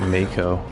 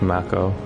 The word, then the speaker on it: Mako: I used to call it Mako back in the day when they didn't actually pronounce these in the old games. All you had was text, so I was called it Mako. But apparently it's Mako.